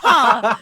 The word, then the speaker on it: ja: They would still say ha. Jaw is pronounced ha.